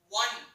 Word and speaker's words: one: The O is vowel, but here is the sound one. Wa. One. One sound.